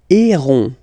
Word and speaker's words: héron: And the last one, so as usual in French, H is not pronounced, so you don't pronounce it. E, accent aigu, the sound is E, E. And then you get this O-N, nasal, on, okay? Un, héron, héron, héron, un héron, okay?